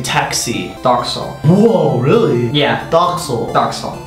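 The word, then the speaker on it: takso: Doxo. Whoa, really? Yeah. Doxo. Doxo. That's really different. Kind of similar, kind of different. So people are like taxo, taxo.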